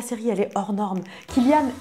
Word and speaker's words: Cillian: Killian, et non pas Cillian, s'il vous plaît, arrêtez de dire Cillian, il s'appelle pas comme ça.